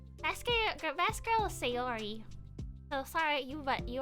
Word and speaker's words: Sayori: it wrong say it right these correctly it's sayori best girl it's her it's the girl it's